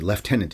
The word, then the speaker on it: lieutenant: about that lieutenant thing, it's the way the British say it, and I've heard it here in Canada too on news reports and whatnot, and it just kills me that there's an F in there, because there's no F in there.